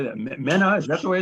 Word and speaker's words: MENA: MENA, is that the way it's pronounced? MENA, yeah.